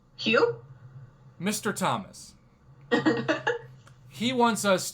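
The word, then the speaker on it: Huw: or i don't know how would you pronounce h-u-w h-u-w yeah is that who hugh hugh mr thomas he wants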